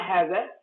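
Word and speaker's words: هذا: Uh, Haza is pronounced haza. This is written without the first alif.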